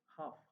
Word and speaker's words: half: GH not in create half L is silent half L is nowhere in the pronunciations for taking participant leopard